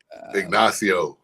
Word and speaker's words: Ignacio: Ignacio. I He was butchered close.